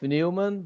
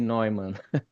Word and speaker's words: Neumann: Do you pronounce it Newman or Neumann? Yeah, I go with Newman, but if you ask my German colleagues, they're probably gonna say Neumann.